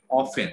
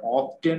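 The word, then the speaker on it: often: তবে অফেন দেখেন, অফেন মানে এটা অফটেন হবে না অফেন হবে, তবে অফেনটা বেশি প্রচলিত, অফেন। হ্যাঁ, অফেন তার মানে কি? এখানে টি এর উচ্চারণ কিন্তু উচ্চ, ঠিক আছে?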